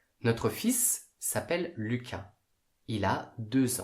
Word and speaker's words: fils: à la prononciation un fils on prononce le s notre fils s'appelle lucas il a